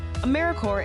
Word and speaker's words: AmeriCorps: AmeriCorps is alive and well, just spelled with a silent P. So, think of apple core or core of the earth.